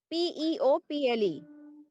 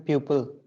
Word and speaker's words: people: It is pronunciated as PEOPLE. I'm pupil. Huh?